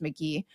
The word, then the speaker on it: Magie: It's Magie, but I think that's pronounced McGee.